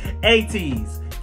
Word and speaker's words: ATEEZ: Keep spamming Lays Gang in the comment section and keep correcting me, because I just realized I'm saying their name wrong again. ATEEZ.